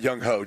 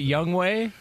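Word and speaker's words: Younghoe: for more on that young hoe Jonas wa wait young ho what are you talking about that ain't how you pronounce it but that's how it's spelled you know what I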